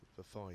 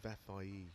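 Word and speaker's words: Vafaei: I was saying, I've been told how to pronounce it, Vafai, I think it is. Vafai, I've been saying, but it's apparently Vafai.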